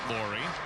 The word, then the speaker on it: Laurie: It's pronounced, by the way, like the lady's name, Laurie.